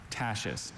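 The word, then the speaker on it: tachiste: Tashist. Origin, please. Germanic-derived French. Tashist. Alternate pronunciations?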